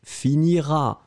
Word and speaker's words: finiras: première personne deuxième personne tu finiras à esse esse final pas prononcé ça c'est clair je finirai tu finiras